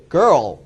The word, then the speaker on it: girl: 발음은 girl.